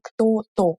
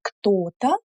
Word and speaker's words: кто-то: We don't emphasize то. We don't say кто-то, что-то. We say кто-то, что-то.